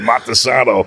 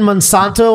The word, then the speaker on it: Monsanto: It's enough already, It's enough already, Montesano. Dude, you're spraying Monsanto all over the place. You don't even care, and you're mispronouncing it.